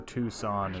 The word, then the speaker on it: Twoson: I always thought it was pronounced Twoson for some reason as a kid. I mean, I didn't know Tucson, Arizona was a real place, so... Oh, why not? Pretty sure Twoson is the intended pronunciation, though.